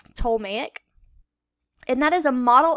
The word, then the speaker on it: Ptolemaic: have What's called the ptolemaic system the p is silent so it's tolmacic and that is a